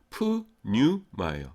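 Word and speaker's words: πνεῦμα: 이게 뭐냐면은 엡실론, 윕실론이 합하면 뭐예요? 유 발음 납니다. 유. 그래서 이게 푸뉴마예요.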